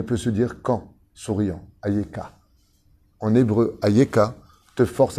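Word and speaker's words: איכה: mot-là qui ne peut se dire qu'en souriant, Ayeka. En hébreu, Ayeka te force à sourire d'une oreille à l'autre. Ayeka. Ayeka, si tu le prononces en hébreu parfaitement.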